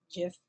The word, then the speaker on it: GIF: GIF, looked it up, although people pronounce it both ways. You'll hear GIF, GIF.